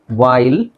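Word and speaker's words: whale: H silent ಆಗಲ್ಲ which ವೈಲ್ ಇಲ್ಲಿ ಈ ಸೈಲೆಂಟ್ ಆಗುತ್ತೆ ಡಬ್ಲ್ ಸಾರಿ ಎಚ್ ಮತ್ತೆ ಇ ಸೈಲೆಂಟ್ ಆಗುತ್ತೆ ವೈಲ್ ಸೋ ಡಬ್ಹ್ ವರ್ಡ್ಸ್ ಅಲ್ಲಿ ಯುವಲಿ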